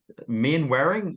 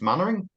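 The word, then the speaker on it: Mainwaring: that second name some of you know it's main wearing or is it sometimes pronounced mannering so it's not main wearing it's close to the mattering he's Australian I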